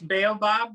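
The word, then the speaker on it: Baobab: you pronounce the name it's bail bob like the tree thank you so ba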